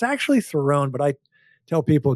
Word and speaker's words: Theron: She told us, and our producer, it rhymes with heron, the bird, the heron is heron is a bird. It's a duck. It's a thing, right? Yeah. So I said Charlize Theron as opposed to Theron.